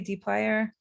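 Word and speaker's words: dplyr: common deep player functions and when i say dplyer it's actually spelled like this okay so their common functions include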